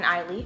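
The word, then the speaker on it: Ailey: two formidable black Americans, the revered choreographer Alvin Eiley, okay, got it, that's how you pronounce her name, and her great-grandmother Pearl, the descendant of enslaved Africans and tenant farmers.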